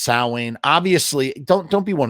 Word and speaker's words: Samhain: oh my God no it's pronounced sa obviously don't don't be one of those nerds